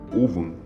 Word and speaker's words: Ogham: E outra pequena observação do alfabeto celta é chamado de Ogham, que é pronunciado como Ovan, que é o alfabeto que eles usavam antigamente, o alfabeto celta.